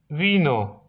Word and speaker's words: vino: V wymawia się jak by, ale możecie używać też W. Un vino.